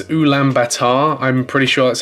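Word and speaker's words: Ulaanbaatar: butcher the name of their capital city it's ulam Batar I'm pretty sure that's how you pronounce it um but they're going to be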